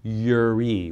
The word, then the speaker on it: Yireh: Properly pronounced, the name you mentioned is Yahweh Yireh with a Y.